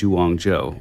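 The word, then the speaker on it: Zhuang Zhou: credit actually goes uh to a guy named Wong Joe which is it's spelled z h UA n g z h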